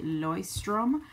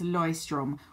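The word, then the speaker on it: Leuchtturm: I've tended to use a lot is the noise strim and I know the pronunciation is kind of funny um that's Hoyts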